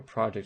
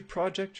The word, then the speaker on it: project: voice a little louder so this distinction in English when we have a word that can be both a noun and a verb usually the noun has stress on the first syllable while the verb has stress on the second syllable some languages have similar